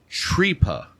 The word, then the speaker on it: tripa: And it's actually pronounced Tripa.